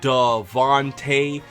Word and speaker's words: Devonte: two questions hwam my name is Devonte pronounced Dante and I have been